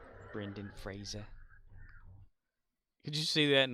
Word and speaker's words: Brendan Fraser: come after me if you come after me Brandon Fraser Brendan Fraser did you see that in like a Family